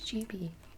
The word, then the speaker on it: Gibi: But everybody thinks it's pronounced Gibi, and it's not. It's Gibi. Not Chibi.